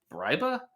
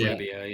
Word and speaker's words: Brebbia: I think right now Roster Resource has I never know how to pronounce his last name. Briba as Oh, as Greg. the Brebbia, yeah.